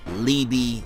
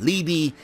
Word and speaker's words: Liebe: In America or in the West, it's pronounced Liebe. In Germany, because it's a German name, it can be pronounced Liebe, or Liebe. So yeah, I'm gonna roll with Liebe since that's what they say in America. They pronounce the name as.